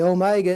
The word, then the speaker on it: omega: a little w the Omega is a long vowel and it's going to be pronounced like a long o and like say the word note the word note so